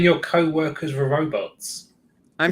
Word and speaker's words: robot: Are you saying your co-workers were robots? I'm saying that they're not very intelligent. So they are robots? Robots would have done a better job. I mean, the original Czech pronunciation is robot.